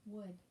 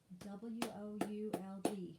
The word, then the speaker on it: would: first and i didn't would w-o-u-l-d would and the l is silent so circle the l because you're supposed to be circling the silent letters all right go to